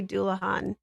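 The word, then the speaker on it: Dullahan: Um, at least I think I'm almost positive I did say Doulahan properly, because 'cause I've heard that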